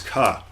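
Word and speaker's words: か: vowel and makes up a single syllable you pronounce this as kaat so it looks like a 4 that's doing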